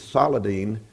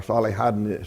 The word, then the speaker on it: Saladin: He failed to retake Jerusalem, but he did make peace with Saladin, or Salihadin, some as he's sometimes pronounced, the Egyptian, and they